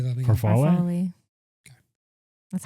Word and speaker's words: farfalle: Farfalle? Farfalle. Okay. That's how I, I say never it. knew. Farfalle? For me, it's farfail. Farfail? Is there a story behind that? No, or- just how it's spelled.